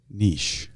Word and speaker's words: niche: How do you pronounce the word Niche? Niche.